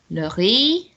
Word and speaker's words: le riz: Le riz. There you go. So it's got a Z on the end that we don't pronounce, which is strange, isn't it?